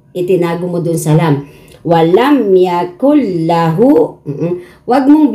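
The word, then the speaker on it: وَلَمْ يَكُن لَّهُ: Yung nun, itatago mo dito sa lam.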